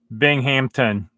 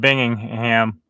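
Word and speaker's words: Binghamton: bit south of here that's Bing Hampton yeah I think I said it wrong the first time and even this last time I said bingingham is Bing Hampton my fault my fault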